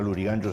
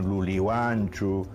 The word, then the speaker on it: Lurigancho: era Maranga, sino Malanja, Lurigancho no era Lurigancho, sino Lulihuancho, en fin, todo era con L, porque había un sustrato aymara que influía en el quechua de la zona.